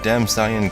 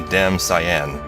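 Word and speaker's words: Damcyan: And I know I'm probably pronouncing that wrong, because part of it is named after a color, cyan. It's supposed to put emphasis in the second syllable, so it's probably damn cyan.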